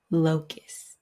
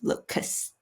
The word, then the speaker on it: locus: internal locus oh see I'm saying Locus well I'm saying it correctly but in my head there's a t at the end of locus so instead of locus is Locust I guess but locus of